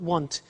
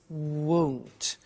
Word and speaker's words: won't: the money is won't be careful with the pronunciation it's not want it's won't so the example is